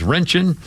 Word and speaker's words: Röntgen: What I mispronounced that? It's Röntgen.